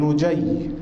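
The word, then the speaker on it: نُجَيّ: وعبد الله بن نجي بضم النون وفتح الجيم وتشديد الياء، تابعي معروف يروي عن علي.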